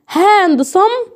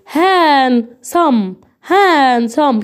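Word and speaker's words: handsome: لا يا باشا، كمل بقى الوسامه بتاعتك وقول هان صم كده، عشان يبقى الوسامه تبقى حلوه بقى بجد.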